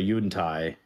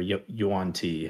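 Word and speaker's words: Yuan-ti: something like that, or like if you're a Yuntai, right, or Yuan Ti, however you prefer the pronunciation, but like you could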